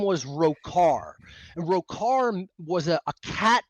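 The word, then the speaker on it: Rhochar: I spelled it R H O C H A R pronounced Roar. Roar.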